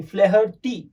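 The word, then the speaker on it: O'Flaherty: जिन्होंने लिखा है उसका नाम है लियाम ओ फ्लेहर्टी, ओके, फ्लेहर्टी नहीं, फ्लेहर्टी, यस, ऐसा हम प्रोनाउंस करेंगे, फ्लेहर्टी।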